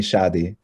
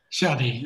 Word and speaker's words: Shady: So Shady, is that the nice way to correct me to pronounce it? Yeah, my mama calls me Shady. Shady, okay, Shady.